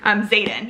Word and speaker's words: Xaden: I don't think it's Zader, like Darth Vader. Xaden, yes.